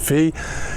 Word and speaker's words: Phi: say the name because I've been calling it Pi, but I'm told, reliably informed by people close to the vessel, that it's actually pronounced Fee.